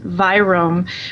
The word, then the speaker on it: virome: You also, in your book, you use a word, you say, I think it's pronounced virome, which I would assume is like the microbiome, but is the virus kind of microbiome?